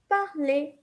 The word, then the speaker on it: parler: And you can tell that in all the verbs that I just said, I never pronounce the R, okay? We never pronounce the R in the ending, okay?